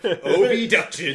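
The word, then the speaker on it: Obduction: It's not spelled like it sounds. It's O-B-duction. So, O-B-duction. It's Abduction spelled with an O instead of an A.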